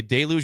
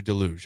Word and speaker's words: Deluge: is uh before the you say delu or delug how do you say I'd say delu yeah before the Deluge by Jackson Brown from